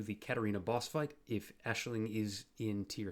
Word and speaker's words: Aisling: on in the league getting aisling or aisling depends on your pronunciation into high tier research